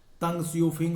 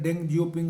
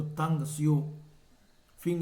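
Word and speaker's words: Deng Xiaoping: अब बदलाव में 2 लोगों का नाम आता है, तंग सियोफिंग और लियू शाओची, जिसे मैंने डेंग जियोपिंग आपके बुक में लिखा हुआ है। अगर आप हिंदी में प्रोनाउंस करेंगे तो तंग सियोफिंग इसका होगा।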